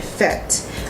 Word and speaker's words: FET: people first see it, they thought the word was fetty or feet, so it was hard. So I made it phonetic, so when people pronounce it, they was like fet.